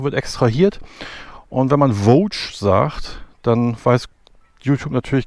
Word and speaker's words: Voge: Übrigens zum Namen, vielleicht ist euch schon aufgefallen, dass wir immer Voach sagen, das ist auch die, so spricht man es richtig aus. Die meisten YouTuber sagen Woge.